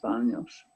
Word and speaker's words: baño: Here's the tilde. Can you see this Yeah, over the end? sí. Uh-huh. That tells you that it's pronounced NY.